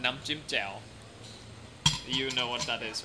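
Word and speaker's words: น้ำจิ้มแจ่ว: your little steak slices in the cup of nam chim jiao, and you'd have that.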